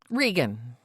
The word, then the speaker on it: Regan: Regan or Reagan? Regan. Okay, that's how it's spelled.